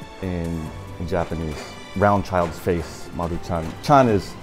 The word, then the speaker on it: Maruchan: While many of us know how to make it, Maruchan. Not all of us know the proper way to pronounce it. Maruchan. CH is like church. Chan. Maruchan. Maruchan.